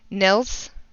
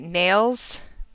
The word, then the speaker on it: Nils: People mispronounce it all the time, and they call him Nails. or or Niles.